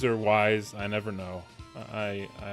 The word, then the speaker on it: Ys: Ease or wise, I never know. I I always forget how you're supposed to pronounce that.